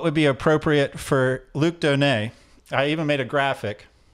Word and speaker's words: Donat: be appropriate for Luke Donei I even made a graphic so this is how we spell your name yet we pronounce it Donei right the T is silent and so I was